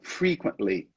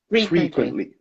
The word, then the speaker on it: frequently: this one frequently okay so the emphasis is the first one frequently frequently perfect yeah yeah i